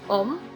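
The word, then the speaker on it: ohm: Hai kemudian satuannya adalah om ditulis ke ini ya tulisannya dibacanya Om nah rangkaian pada resistor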